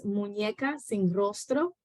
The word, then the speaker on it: Muñecas sin Rostro: I also, and so in Spanish, Annie, to kind of like help with the pronunciation. In Spanish, it is Muñecas sin Rostro.